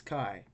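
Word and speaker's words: καί: So A is pronounced as if it was one letter. So we should see trace as Kai. It's just one syllable word.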